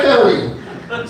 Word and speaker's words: Cote: My last name is Cote, spelled C-O-T-E. Very easy to spell and very difficult to pronounce, as it were. Back in the day when people called the homestead, they'd say, "Is Mr. Cote there?" My dad said, "You might want to check your foyer over to the mudroom.